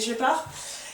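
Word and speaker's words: Scheppach: Donc c'est de la marque Shepard, ça s'écrit Shepash mais c'est Shepard, et c'est le HA1600.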